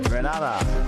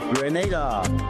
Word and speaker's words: Grenada: So today, like we Germans say, we are in Grenada. But I heard in English it's called Grenada.